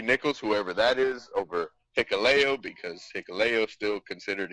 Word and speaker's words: Hikuleo: I have Hikuleo. See, I said it right that time. Of course. He had to spell it phonetically. Hikuleo.